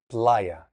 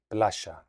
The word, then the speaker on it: playa: An example might be like llaves, keys, playa, beach. In Argentine Spanish, there's an Italian influence. So playa would be playa, keys would be Chavez, that type of thing.